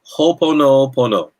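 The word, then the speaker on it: Hoʻoponopono: So you say Ho'oponopono.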